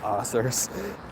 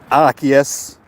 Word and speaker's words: Arceus: Pray to the Bidoof Arceus. Or Arceus, if you want to pronounce it correctly.